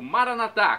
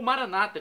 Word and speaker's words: Maranata: Agora eu clamo do aramaico Maranatá, como dizemos nós católicos com a tônica na última sílaba, do aramaico dialeto de Jesus, ou Maranata com a tônica na penúltima sílaba, como dizem nossos irmãos separados, os evangélicos ou protestantes.